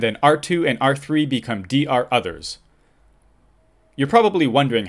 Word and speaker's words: DROther: Routers which aren’t the DR or BDR for the subnet become a ‘DROther’. I’ve heard a few ways to pronounce that, but I say ‘D R Other’.